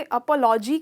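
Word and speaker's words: apology: अपॉलॉजी, अपॉलॉजी, इसको आप stress करते हो यहाँ, अपॉलॉजी। तो इसमें प का साउंड बिल्कुल प्रोमिनेंट प निकलता है।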